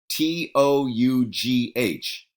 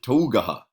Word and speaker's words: tough: T-O-U-G-H. How do you pronounce that word? Yeah, you don't pronounce it Tougaha, right?